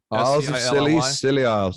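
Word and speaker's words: Scilly Isles: little about uh the silly isles that's actually how you pronounce it right silly isles and that so they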